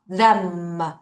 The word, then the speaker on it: them: 그런데 얘들아, th가 이렇게 한꺼번에 있으면 Look at my mouth. 혀를 자, 이사 여기다 빼는 거죠. The 그 상태로 갈게요.이가에 그다음에 m이 갑니다. 다시 혀 혀 them.